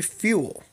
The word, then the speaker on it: Fewell: the new defensive backs coach secondary coach Perry fuel I think I pronounced that correctly fe w e ll but